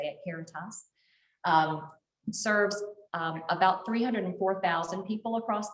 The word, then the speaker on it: Caritas: AmeriHealth Caritas, that's how you say it, Caritas, serves about 304,000 people across the state.